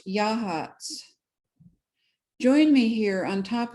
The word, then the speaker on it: Yachats: It's pronounced Yahats.